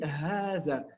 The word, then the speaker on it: هذا: Hadha, il fait partie de ces catégories de mots où il y a une prolongation à l'écoute, à la prononciation, mais pas à l'écrit.